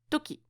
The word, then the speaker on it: とき: we are going to study the kanji for Toki so as I told you Toki means time moment period etc etc so the Chinese pronunciation is ji and the Japanese pronunciation is Tuki so as for the etymology is actually not